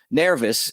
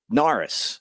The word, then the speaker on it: Neris: me Hey look it's it's not nervous it's narus you know it's nerys right you you'll give me